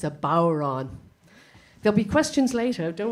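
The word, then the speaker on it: bodhrán: a cardinal sin because it's a Gaelic word and so the D is not is not pronounced so it's the D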